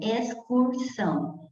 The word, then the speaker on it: excursão: Aí você pronuncia o X. Você não vai falar excursão, você vai falar então pronunciou o X, pronunciou o C.